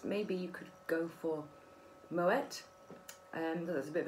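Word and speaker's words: Moët: you could go for moet and there's a bit of a mixture moet bean dutch which is why we pronounce the tea um and then got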